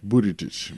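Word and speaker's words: Buttigieg: bit moody but a kid but it's children booty tooch Budaj he is 37 it got his height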